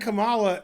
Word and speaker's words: Kamala: I like Kamala because her name rhymes with Holla.